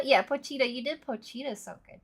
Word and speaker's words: Pochita: Poittita. Yeah, Pochita.